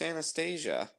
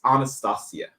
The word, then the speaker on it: Anastasia: I am a distant relative of Grand Duchess Anastasia. Awesome! Congratulations. The Russian girl who died? Okay. This is maybe I'm wrong about this, but this is a pet peeve of mine. It's Anastasia.